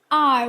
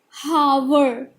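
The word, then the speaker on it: hour: We say it r. We pronounce it at r, not however. This is absolutely wrong. We call it r.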